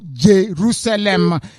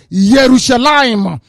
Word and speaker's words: Yerushalayim: hebrew for your information there is no jerusalem the name is yerushalayim i don't know how